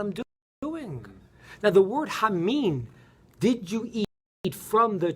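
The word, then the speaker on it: המן: even know what I'm doing now the word huh mean did you eat from the tree huh mean is spelt hey man moon which is the word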